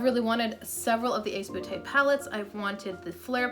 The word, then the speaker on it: Ace Beauté: First off, it might be pronounced Ace Beauté because in French, B-E-A-U is pronounced beau.